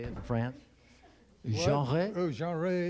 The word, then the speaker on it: genre: Okay, yet another genre. Is that how they say it in France? Genre? Oh, genre. You gotta sound like you got cheese in your throat, you know.